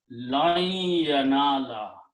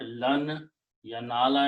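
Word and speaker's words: لن ينال: Also in the tajweed, when noon and ya come together, then the sound of noon becomes noon ghunna, idgham, and then you put a shadda here and pronounce this ya and noon with the idgham. So it becomes lan yanala, not lan yanala anymore. Lan, ghunna has come out from the nose.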